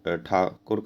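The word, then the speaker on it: Thakur: यदि आप देखें तो TH था होता है, लेकिन उनसे ये वर्ड बोलते नहीं आता था। हमारे लिए ठा होता है, लेकिन ठा उनके लिए प्रोनाउंस करना काफ़ी मुश्किल था। तो इसे उन्हें वे लोग, रविंद्रनाथ टैगोर काफ़ी फेमस थे तो वो ठाकुर काफ़ी फेमस थे तो वो टैगोर बोलने लगे।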